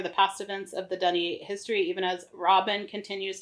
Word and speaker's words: D'ni: history because we Dunny learned how to say that this time. And we'll instead of Deni.